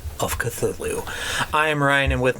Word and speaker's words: Cthulhu: literally no no no if you had never seen this word before how would you have pronounced cthulhu i i can answer that by a co-worker okay because i showed him the book and he said what's a chatulu okay right ryan how would